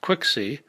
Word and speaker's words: QXC: precise ways tetradyne and qxc pronounced quixy are vehicles for qcmp